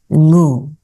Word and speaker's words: Ngu: So, my surname is NGU. So if you know how to pronounce it actually is you read it as moo which is um normally pretty hard for people to uh read.